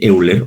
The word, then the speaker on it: Euler: de pan de o de euler oil es cómo se pronuncia pero que lo vamos